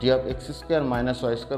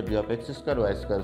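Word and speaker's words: dx²−y²: এই যে পাঁচটা অরবিটাল আছে, ডি অফ x2 মাইনাস y2 উচ্চারণ করা যায় না, এটা হাইফেনের মতো ডি অফ x2 y2 উচ্চারণ করতে হয়।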